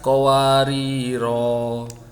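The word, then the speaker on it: قواريرا: Qawarira alifnya ini dibaca panjang kalau dia waqaf atau berhenti. Jadi kalau sampean berhenti di sini membacanya wa akwabin kanat qawarira. Tapi kalau membacanya lanjut maka dibacanya menjadi wa aqwabin kanat qawarira min fiddatin qaddaruha taqdira.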